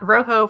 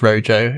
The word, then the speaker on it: Rojo: I I'll be honest I've been mispronouncing it all this time as Ray J which other people do but it is supposed to be the Spanish color so this row not